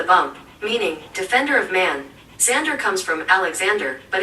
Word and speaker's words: Xander: According to the bump, meaning defender of man, Xander comes from Alexander, but it's Sounds shorter and safe with to its me. X pronounced as a Z.